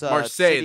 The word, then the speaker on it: Marseille: Is that how you pronounce Marseille. that? It's, Marseille, that is.